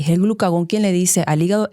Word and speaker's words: glucagón: Y es que el glucagón, que no es tan conocido, a mí me gusta decirlo, hay gente que dice glucagón, pero como tiene acento en la O es glucagón, yo lo siento.